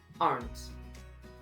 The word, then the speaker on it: aren't: nos da como resultado aren't. ¿Ay? ¿Qué ha pasado con la E? ¿Qué hay E? Pues aquí no se pronuncia. Aren't.